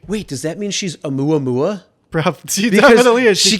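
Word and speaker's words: ʻOumuamua: Is that how you pronounce it? A Muamua?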